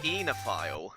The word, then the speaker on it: oenophile: I think it's pronounced enophile. Oh, thank you. I have never seen that word before, so thank you very much. I Enough. think if it's, I think an OE is always pronounced as an E.